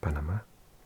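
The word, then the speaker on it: Panamá: Panama in Spanish. Panama. The accent on the last day.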